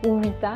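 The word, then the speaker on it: Uvita: Ceux qui veulent regarder près d'une petite ville qui s'appelle Uwita, mais qui s'écrit Uwita.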